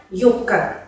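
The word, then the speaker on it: юбка: Por ejemplo, en la palabra vtornik, que se pronuncia como vtornik, se escribe yubka, pero se pronuncia yubka.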